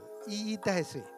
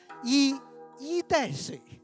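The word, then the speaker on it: 一衣带水: 这里还有一个音韵的小细节，我读成语一定是这样读，一衣带水，但他其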